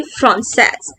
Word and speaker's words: française: So to boy we say français and to girl we say française.